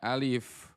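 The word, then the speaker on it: ألف: Alifnya jelaskan ya hurufnya. Alif. Alif, bukan alif, tapi alif. Alif, lam, mim. Coba. Bukan alif. Bukan alif, tapi alif. Yuk.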